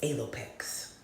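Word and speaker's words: alopex: word means fox and you pronounce it as a lopex a l o p e x a lopex and so how alopecia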